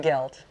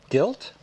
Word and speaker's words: gelt: Hanukkah gelt. Gilt? It's Hanukkah gelt. It's Hanukkah gilt. Gelt. Gilt. Gelt. Gilt. Gelt. Spell it. G-E-L-T. Gelt. Gelt.